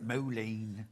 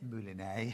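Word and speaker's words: mouliné: If you want the stranded coffin, it's moulinet. I know how to say it now. I didn't know how to I've been say calling it moline.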